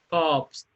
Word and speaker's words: corpse: Corpse, COPS, corpse, in this word, R is not pronouncing here.